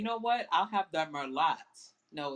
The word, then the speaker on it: Merlot: wine, and they say, you know what, I'll have the Merlot. No, it's Merlot, honey. Merlot It's pronounced Merlot, not for Merlot.